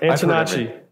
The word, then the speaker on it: Antonacci: Antonacci. That's right. That's exactly how you say it. Okay. I didn't know if it was like a ch or a hard C.